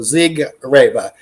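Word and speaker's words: Siegerrebe: we pronounce it yeah we always anglicize it you know we don't even have the German accent right it means Champion grape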